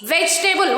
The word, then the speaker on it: vegetable: Next, like, change, please, vegetable. What is this word? How should we pronounce this? Vegetable. Vegetable. There we should not pronounce vegetable or vegetable. Vegetable. Okay. E here also will be silent.